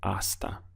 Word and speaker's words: hasta: in Spanish is hasta hasta the H is silent so your pronunciation starts from the a here asta how would you say